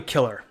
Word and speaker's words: Siller: So Siller, I'll just call you Killer. It's spelled like Siller, but you just told me it's Killer.